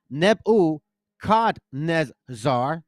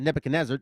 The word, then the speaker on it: Nebuchadnezzar: shot NE I'm sorry nebu Nezar that's how you say it not Nebuchadnezzar it's neb Nezar King of Babylon had